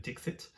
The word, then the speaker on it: Dixit: So finish, make sure there's a T at the end of Dixit.